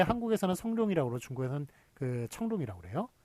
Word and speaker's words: 청룡: 하여간 어쨌든 그 사람에 대한 발음은 청룡이 맞습니다. 성룡은 한국식 발음이고요. 중국 발음인 청룡이 맞고요.